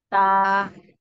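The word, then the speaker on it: تاء: তা। মাশাআল্লাহ, সুন্দর হয়েছে। তা, এটা কোন জায়গা থেকে উচ্চারণ হবে। জিহ্বার আগা আর সামনের উপরের দুই দাঁতের গোড়া থেকে। মাশাআল্লাহ, সুন্দর হয়েছে।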